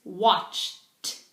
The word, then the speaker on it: watched: In the past, it's watched. watched. I watched a film on TV. I watched a film on TV. So, you pronounce these endings, these ed endings, like a t.